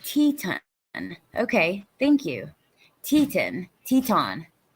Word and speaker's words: Teton: Teton, rhymes with yawn. It's French and was brought about by French settlers exploring and finding Twin Mountains, Wyoming, that looked like ladies' Teton, huh?